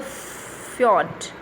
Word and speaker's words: fjord: the chart on the fjord it is spelled as fiona jay is silent and the whole family